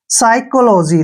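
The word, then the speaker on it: psychology: साई ठीक है और सी एच का उच्चारण यहां पर क करेंगे क्या करेंगे क और ओ को ओ की मात्रा पढ़ेंगे एल ओ को हम लो पढ़ेंगे ऐसे लो और जी वाई का उच्चारण हम जी करेंगे ठीक है जी ऐसे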